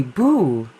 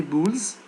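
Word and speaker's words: boules: French game they play boo boo don't say Bulls okay because this is a French word and in French we don't pronounce s the plural s you so this is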